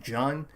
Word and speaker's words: Jean: um type of person jean uh it's spelled like j-e-a-n so it's like gene but like they pronounce it john uh reiner reiner the